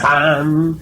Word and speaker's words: Ham: Ham se escribe con las letras H-A-M. Saj se escribe con las letras S-A-H. La H suena siempre como J.